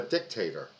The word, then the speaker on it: dictator: save America from a dictator emphasis on the first syllable just let's not forget